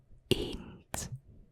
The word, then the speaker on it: eend: So a duck in Dutch is eend. Eend. Eend. Eend. So kind of like the number 1, which is know what this is, unless you know Dutch.